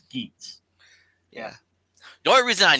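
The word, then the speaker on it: Geats: I've got friends who I talk with about Kamen Rider who will still call it Kamen Rider Gets when it's Geets.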